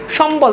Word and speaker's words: সম্বল: সম্বল দেখেন ময়ের সাথে বফালা যুক্ত রয়েছে, যেন দেখেন বফালা বয়ের উচ্চারণ রয়েছে।